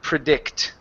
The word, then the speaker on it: predict: you is the word predict ok the stress is on the end of the word predict ready good a magic ability